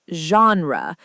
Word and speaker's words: genre: The word genre is pronounced like genre. Many beginners pronounce it wrong. That's a great tip. Let's repeat it together. Genre.